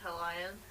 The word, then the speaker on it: Hellions: It's pronounced Hellions.